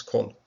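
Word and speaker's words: כל: It's not closed syllable, not accented, so it's an O. Not kol, as some of the transliterations will do here, but no, it's kol.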